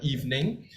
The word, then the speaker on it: evening: this uh titular word evening I've heard quite a number of instances this word is pronounced as evening okay it should be evening the middle e is silent it's like Christmas Eve okay organize organize I